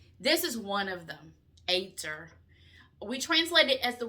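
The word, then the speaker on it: עֵזֶר: And the word is ATE-ZUR is how you actually pronounce it, ATE-ZUR. And it's spelled Ezer.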